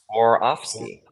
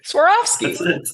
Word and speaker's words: Swarovski: Swarovski. Hey, you just said it. Swarovski? Really? Swarovski.